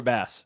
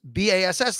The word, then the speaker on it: Bass: Look at Tyler Bass. Yes, I know, like the fish. Bass, like the fish, which is well, because BASS, like they're telling you, don't say base.